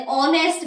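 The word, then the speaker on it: honest: ही इज एन ऑनेस्ट मैन। ऑनेस्ट की spelling H से start होती है। लेकिन एच उसमें साइलेंट होता है।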